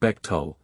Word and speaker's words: Bechtel: Bechtel, pronounced Bechtel, a San Francisco-based organization, Branton, is a super-secret international corporate octopus, founded in 1898.